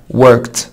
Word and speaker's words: worked: طب worked worked هتقول لي برضو بعد الكا ساوند الاي دي بتنطق تا فتبقى worked worked.